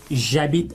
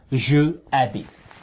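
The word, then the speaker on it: j'habite: of this silent h the h is silent that means it's like it doesn't exist right and if the h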